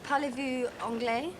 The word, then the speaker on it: parlez-vous anglais: Parlez-vous anglais? Parlez-vous anglais? Do you run the S onto the A, don't you?